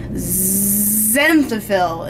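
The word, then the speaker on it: xanthophyll: is going to be zenil it's spelled with an X I love that word why is it spelled with an X it's like zyo process in bones and then if you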